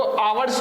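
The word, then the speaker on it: hours: देखो आवर्स को पढ़ा जाता है, वो एच इसमें साइलेंट होता है, इसलिए यहाँ एन भरा जाएगा, ए नहीं भरा जाएगा, एन, ठीक है।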